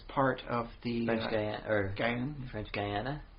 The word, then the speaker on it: French Guiana: of the or gang french guiana i pronounced a guinea it just sounds a little funny for me but yeah okay